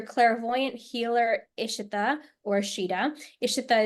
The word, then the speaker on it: Ishita: Ishita is the way that it's pronounced when in Hindi, and it actually means manifestation of God.